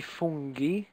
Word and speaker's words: funghi: Risotto ai funghi, so that G, the G is a G, funghi.